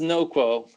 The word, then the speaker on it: NOQUO: you pronounce it it's it's pronounced no quo as in not accepting status quo that's where it comes